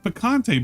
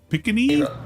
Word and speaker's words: picante: It's picante, but he's like picany.